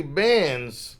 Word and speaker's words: Bands: Because I meant to even ask him on the show, is it Banks or Bands? But it's actually Bands.